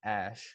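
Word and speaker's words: Æ: just stands for eggs the AE is pronounced ash as an Ash Ketchum and then a -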